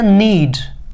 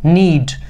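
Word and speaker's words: knead: आटा गूंदा जाता है, इसको इंग्लिश में कहते हैं नीड, यहां पर के साइलेंट है, नीड, डुबकी देना, डीप, डीप,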